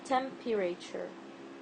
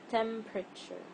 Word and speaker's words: temperature: word is temperature temperature I don't say temperature or temperature temperature it's temperature also like vegetable it's not